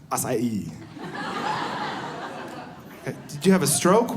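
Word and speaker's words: açaí: And it had this berry in it, and the berry is spelled A-C-A-I, right? So I saw that, and I told my friend, I was like, I'm going to have the acai bowl.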